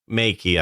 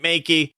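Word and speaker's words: Meike: for four hundred and forty nine dollars u.s makey i tell you and that's m-e-i-k-e that's how you pronounce it makey it seems like every other week or so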